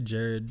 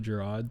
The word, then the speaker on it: Jerod: that name what do you say I say Jared Jared but then more more people say Gerard so it's cool whatever whatever what did your